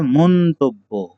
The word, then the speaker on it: মন্তব্য: এটা উচ্চারণ হবে মন্তব্য। ওকে, মটা ওকারান্ত হয়ে যাবে। পরেরটা দেখি, নিঃশর্ত।